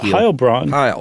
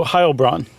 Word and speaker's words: Heilbronn: the Phantom of uh Ohio sorry is it Heil it is I just goofed in German you do the second uh syllable okay for an e i okay so Ohio Braun yeah hi Brian sorry